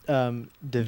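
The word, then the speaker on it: Daveigh: but I think it's pronounced Duvet.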